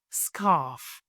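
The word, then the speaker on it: scarf: لافيسقاله جاكيت وكاين سكاف سكاف الاغذ ماكتنطقش سكاف سكاف شال ش كنديرو هاي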